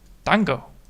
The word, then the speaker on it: 単語: 単語 Tango. Interesting. So the tango is a word. And I can actually get that back. 単語単語単語 Tango. Tango. Tango. So it's very quick. Alright, so it's a very quick pronunciation.